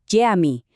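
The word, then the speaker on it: cami: Jadi pengucapan yang benar itu jami.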